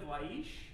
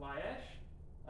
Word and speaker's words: Laish: that this is the land of laish or laish um pronounced both ways this is the the